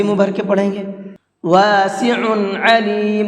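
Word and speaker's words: واسع عليم: بھر کے پڑھیں گے۔ واسع علیم، دونوں جگہ پر عین ہے، عین نکال کر کے پڑھیں گے، حمزہ نہیں پڑھنا ہے، ٹھیک ہے۔ تو الحمدللہ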